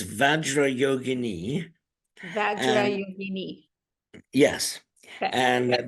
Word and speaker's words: vajra: pronounce it vajra not vajra only Americans say vajra I know I'm American I know but it's Sanskrit and Sanskrit has specific rules as to how things are to be pronounced it's vajra yogini VRA yogini yes